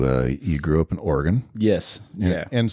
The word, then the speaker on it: Oregon: Uh, you uh you grew up in Oregon. Yes. And some people call it Oregon. Some people do. And they're wrong. That's incorrect. Wrong. That is incorrect.